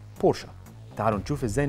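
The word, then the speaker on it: Porsche: نطق اسمها الصح وهو الاسم اللي عدد كبير جدا من الناس بتنطق غلط خاصه النطق الاسم بالانجليزي بورش وده بيختلف عن طريقه نطقه بالالماني بورشا تعالوا نشوف ازاي ننطق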